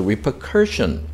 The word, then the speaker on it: repercussion: repercussion, 예, 그래서 repercussion 세 번째 음제를 강세가 있고, 그 다음에 something usually